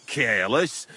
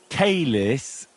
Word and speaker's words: caelis: Qui is in careless, sanctify qui adventit ad rec. Your turn. You're saying it wrong. Listen. It goes like this. Pater Noster qui as in caelis.